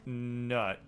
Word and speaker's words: Nut: stars but it's not which is sad it's pronounced nut yeah I know okay can I put that